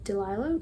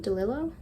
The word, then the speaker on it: DeLillo: well it is great jones street by dawn delilah delillo for every book i have to look up how to pronounce something so now that i've heard the